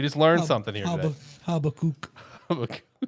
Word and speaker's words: Habakkuk Baldonado: Habakkuk Baldonado. There you go. That's how you pronounce it. The more we know. All right, we just learned something here today. Habakkuk.